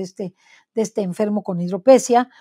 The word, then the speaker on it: hidropesía: el caso de este de este enfermo con hidropesia o hidropesía hidropesía se pronuncia con hidropesía que pues tenía que esperar más porque se